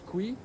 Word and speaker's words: KWI: KWI des initiales, ça se prononce Kui, et Kui c'est un